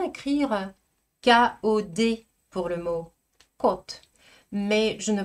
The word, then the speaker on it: код: Notre première paire, vous la connaissez déjà très bien et j'espère que vous savez bien prononcer, malgré ce qui est écrit, côte, côte.